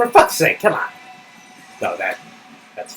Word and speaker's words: sake: you don't know Japanese you think it rhymes like dump the snake in the state but it's actually sake so it's kind of